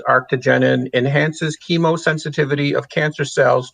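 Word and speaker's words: arctigenin: Arctogenin.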